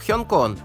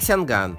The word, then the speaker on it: 香港: Например, Гонконг на кантонском произносится как Хёнкон, а на китайском как Сянган.